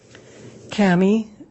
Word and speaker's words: Cammy: honor would you please state your name and spell it for the record Kami c-a-m-m-y where are you currently employed